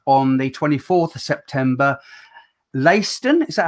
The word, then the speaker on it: Leicester: think we've got on the 24th of september layston is that how you pronounce it yeah yeah leicester yep that's correct